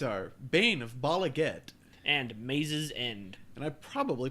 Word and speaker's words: Maze's End: Today's cards are Bane of Bala And Maze's End. and I probably pronounced Bala wrong. Whatever. Probably. Is it Maze's End or the Maze's? I always call it Maze's. I'm pretty sure it's Mace's.